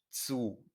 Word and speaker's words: zu: Du willst zu deiner Tante. Una Z se pronuncia como TS.